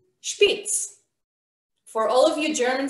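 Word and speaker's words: שפיץ: this way okay so word in hebrew is pronounced spitz for all of you german speakers out there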